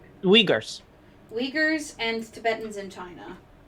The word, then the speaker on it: Uyghurs: Just spell it for me. O-Y... or U-Y-G-H-U-R-S. Wait. Hold up, let me... The U-Y... G-H-U-R-S. Uyghurs.